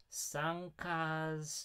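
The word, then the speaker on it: pysanky: hold on i've got i've actually got the pronunciation of this pre-loaded sun cars ukrainian can you hear this i uh as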